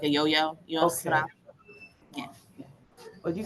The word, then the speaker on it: Yusra: Am I pronouncing that right, Yusra? It's Yusra, but you can just call me Yusi.